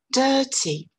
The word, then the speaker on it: dirty: À nouveau, le mot de 2 syllabes avec une première syllabe forte et une deuxième syllabe faible. Dirty, dirty. Vous remarquerez que quand on prononce cette consonne, on ne prononce pas, en anglais britannique, la lettre R. D'accord? C'est simplement une voyelle longue.